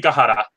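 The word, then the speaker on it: Aokigahara: I murder this I'm sorry but it's the alkie gotta oh ok Cohutta okay that's how you say it also commonly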